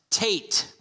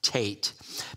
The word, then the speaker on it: Teth: T but it's pronounced Tate uh because that th in Hebrew is always a hard sound you know in English